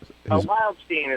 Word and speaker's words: Wildstein: Wildstein is how it's Wildstein. pronounced by everybody, including himself.